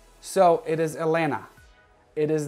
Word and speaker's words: Atlanta: because it is not atlanta the second t is silent so it is elena it is not atlanta